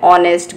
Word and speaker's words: honest: For example, an hour, an honest girl, an honorable man. So here you can see, children, these words, though they are beginning with H, but here H is silent.